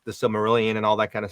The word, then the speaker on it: Silmarillion: How do you pronounce it? I don't even think I ever. Silmarillion. Silmarillion.